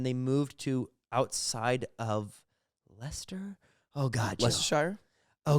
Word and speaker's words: Leicester: moved to outside of leicester oh god just shire oh gosh it's actually pronounced lester did you know that it's lay chester yeah chester is actually